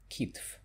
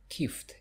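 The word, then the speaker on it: китф: And the shoulder is kitf. But some people say kift instead. So it's kift, F and then T. So the correct one will be kitf.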